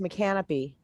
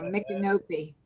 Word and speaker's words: Micanopy: I also noticed Micanopy. Is that how you say it? No, Yeah. Micanopy. Micanopy. Canopy, yeah.